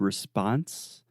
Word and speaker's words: response: one quick pronunciation note in the word response in American English the second sound is the ah response response precisely so you are